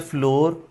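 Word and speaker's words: flour: लेकिन आटे की जो प्रोनंसिएशन है वो दो तरह की है। फ्लावर जैसे फूल की है और फ्लावर। राइट? इवन ब्रिटिश इसको आखरी आरबी हजब करते हैं। फ्लॉ बोलते हैं। I need फ्लॉ।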